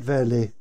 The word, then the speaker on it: Veerle: um to introduce uh verlet the berm did i get your name right verley yeah yeah i'm always a bit